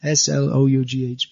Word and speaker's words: slough: The O-U-G-H becomes uff, and then S-L-O-U-G-H becomes slough. It's pronounced differently.